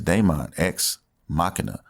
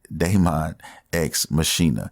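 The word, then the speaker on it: Daemon X Machina: heart and that is de menthe ex machina or I always call it de menthe ex mashina however you want to pronounce a potato potato whatever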